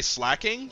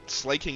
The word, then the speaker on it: Slaking: Also, I I normally would say slacking, but I think slaking is the proper way to say it.